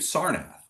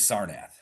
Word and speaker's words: Sarnath: Um he also alerted you to a festival taking place in the city of Sarnath.